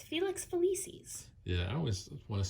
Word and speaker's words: Felix Felicis: Megan, I'm going to have you pronounce that one because I always get it wrong. Why. It's Felix Felicis.